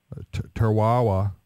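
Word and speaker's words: Tarawa: not a scientist but the island of teraha t r a wa I guess is how you pronounce it he says they're contemplating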